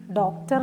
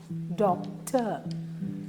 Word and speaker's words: doctor: Stresses on the first syllable. DOCTOR. ഡോക്ടർ അല്ല, ഡോക്ടർ.